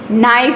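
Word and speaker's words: knife: तो देखो के एन, जैसे कि नाइफ है, फिर नो है, वो सारे वर्ड्स ऐसे हैं के एन से स्टार्ट होते हैं. वो उसमें के साइलेंट होता है इसलिए उसका साउंड आता है नॉक.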